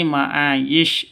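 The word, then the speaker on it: معايش: wakaf atau ber berhenti kalau tidak berhenti atau lanjut ke ayat selanjutnya maka ini maayisyah dibaca maayisyah kalau berhenti di sini berarti maayis syinnya berubah menjadi sukun atau mati Oke kita ulang sekali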